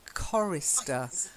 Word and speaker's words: chorister: a choir is a chorister so it's a hard C sound chorister try it chorus